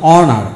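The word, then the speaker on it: honour: কোনো শব্দের মধ্যে এইচ এর পরে যদি ভাওয়াল এ ই আই ও ইউ থাকে তাহলে এইচ এর উচ্চারণ হয় না। এখন আসুন, যেমন যেমন অনার, এইচ ও এন ও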